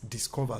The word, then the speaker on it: DSCVR: one platform it is called dscvr platform but pronounced as discover so it's like a short form of discover you understand some of